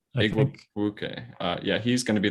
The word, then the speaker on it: Igwebuike: Igwebuike, I think. Igwebuike.